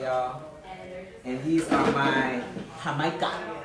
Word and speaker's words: jamaica: And these are my Jamaica. That's how they say it in Mexico, Jamaica, which is Jamaica tacos. They call hibiscus Jamaica or Jamaica in Latino countries or in particular Mexico.